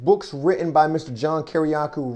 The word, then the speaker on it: Kiriakou: is because i am here with mr john kiriakou i pronounced that correctly you did indeed greatly appreciate